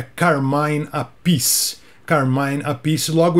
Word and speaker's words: Carmine Appice: eu cheguei e falei Carmine appice ele falou Pô desculpa cara serrou os dois nomes o nome segundo o próprio É Carmen appice Carmine appice logo o